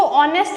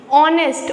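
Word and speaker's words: honest: ठीक है, सो ऑनेस्ट, एच इज़ a consonant, लेकिन ये जो एच है इसमें साइलेंट होता है. साइलेंट मतलब इसका कोई रोल नहीं होता है, ये सिर्फ स्पेलिंग के अंदर यूज़ होता है. लेकिन अगर हम लोग इसको प्रोनाउंस करेंगे, बोलेंगे, तो हम लोग इसको ऑनेस्ट बोलेंगे. ऑनेस्ट, ऑनेस्ट में किसका वर्ड आ रहा है?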